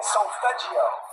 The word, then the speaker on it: solfeggio: Is it Sofigio? Yeah, solfeggio. Solfeggio.